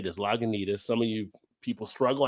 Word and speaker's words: Lagunitas: If you ever wonder how to say this, Lagunitas.